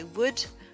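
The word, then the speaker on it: would: enfin dernier petit point pour coude chaude et wood le l n'est pas prononcé voilà c'est tout pour ce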